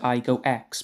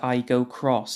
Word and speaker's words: Aygo X: So, originally, I thought this car was called the Toyota Aygo X, but apparently it's pronounced the Toyota Aygo Cross instead.